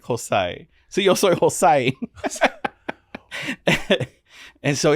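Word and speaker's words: José: I heard Jose pronounced hosai right cuz I spell it h z y the joke is it's Jose but in English Jose right but they said hosai and I'm like oh I like hosai so you Jos and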